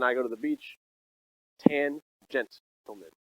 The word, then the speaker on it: tangent: Tangent. All right. Well, anyway, tangent.